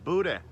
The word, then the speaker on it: boudin: to call it boudin or cajun sausage it's pronounced buddha don't ask me why it's just what my mom and dad taught me so put your boo down on the grill wait for it to get